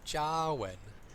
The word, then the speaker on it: Jarwin: And the way to pronounce my name is Jarwin. So like a jar of cookies, and you're going to ask, when am I going to open it? So that's how you pronounce my name, Jarwin.